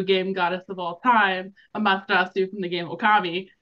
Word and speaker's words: Amaterasu: Markham, how do you pronounce the full god name that she's based on? Amatera? Amatera? Nope. No! Amaterasu. Amaterasu. Amaterasu.